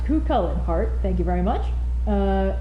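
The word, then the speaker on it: Cú Chulainn: Connor Nagel with €229 with Cucullin is pronounced Cucullin.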